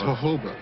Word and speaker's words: jojoba: No, the J is pronounced H, as jojoba. The reason that it's pronounced